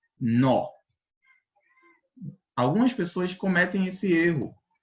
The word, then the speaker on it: nó: pronúncia das duas palavras na primeira eu pronuncio com menos intensidade no já na segunda devido ao acento agudo que é esse tracinho aqui para cima pra direita eu pronuncio com mais intensidade Então passa a ser nó algumas pessoas cometem esse